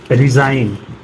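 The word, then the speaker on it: resign: पहले जी एन से पहले जी तो डिजाइन रिजाइन campaign साइन next है एच कब साइलेंट होता है क रहा है जब ओ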